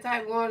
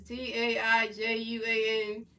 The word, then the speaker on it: Taijuan: It's Tai. There's no W in there, so you know. It's not Taiwan. It sounds like that, but the way it's spelled is not like that. It's Taijuan.